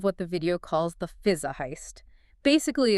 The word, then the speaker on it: Fuliza: It's pronounced roughly Fuliza.